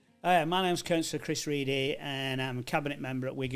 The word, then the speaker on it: Ready: My name's Reedy. It's spelled ready.